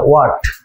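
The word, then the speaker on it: what: আচ্ছা, আরেকটা কথা বলি, এটা কি হোয়াট না ওয়াট? এখানে অবশ্যই কিন্তু এইচ এর উচ্চারণটা হবে না। ওকে, হোয়াট, হু, হোয়াট। ক্লিয়ার? আমি কিভাবে বলতেছি হয়তো তোমরা ক্লিয়ার শুনতে পাচ্ছ কিনা জানি না, এটা অবশ্যই তোমরা এইচ বাদ দিয়ে উচ্চারণ করবে।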